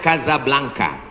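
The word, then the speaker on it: Casablanca: kuliah nama negaranya Maroko ibukotanya tulisannya casablangca cara bacanya Kadzab langka Kaza artinya rumah Blanca artinya putih Kasablanka rumah warna putih bahasa Arabnya ada rolbok dari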